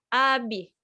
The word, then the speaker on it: abi: Kakak laki-laki itu nah tulisannya ab seperti ini teman-teman tapi kita bacanya Abi Abdillah weh sedih kakak